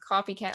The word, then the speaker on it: KofyKat: so um i believe i am coffee cat on all of my social media i believe i was able to claim it because i spell it a little bit differently because my name well